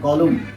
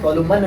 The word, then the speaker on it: column: तो आइए यहाँ देखते हैं COLUMN, कॉलम, इसको क्या पढ़ते हैं कॉलम, इसको कहते हैं कॉलम, ठीक है, इसको कॉलम करते हैं, कॉलमन नहीं पढ़ते हैं।